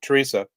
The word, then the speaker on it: Therese: Yeah, Teresa. Yeah, it's spelled with 3 E's, but it's pronounced the German way, Teresa.